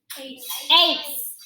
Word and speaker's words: ace: I have a C next to an E, so it makes the S sound. So what does this word say? Ace.